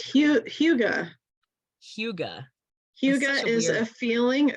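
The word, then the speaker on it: hygge: You'll have to say it. It's Huga.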